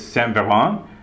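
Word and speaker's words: Saint-Véran: you know it's it's it's saint veron but i'm not french okay but but you still owe it to the french to say it properly okay now other aspects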